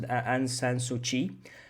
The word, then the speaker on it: Aung San Suu Kyi: Myanmar's ousted civilian leader, Aung San Suu Kyi, has been sentenced to 4 years in prison. All right, so let's understand this first. So this person here, guys, it's pronounced Aung San Suu Kyi.